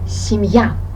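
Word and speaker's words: семья: on the topic family in russian we will say it like simya and you will not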